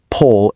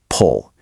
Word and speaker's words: people: People always want to say people with a hard strong o sound at the end. Well, we need to soften that ending up. It is not pull, it's pull.